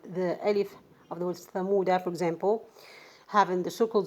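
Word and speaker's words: ثمودا: so in this case, this alif is not pronounced at all. I mean, while stopping, while connecting, in all cases, you are not gonna pronounce this alif if you find the circle zero at the top of this alif.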